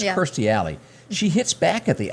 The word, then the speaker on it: Kirstie Alley: This is I don't know what to say about this, but and you pronounce her name, I think, Kirstie Alley. I used to say Christy all the time, but it's Kirstie Alley.